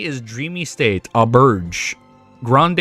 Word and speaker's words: Grande: Grande is pronounced as grand. Oh, grand. Oh, sorry. The e is silent.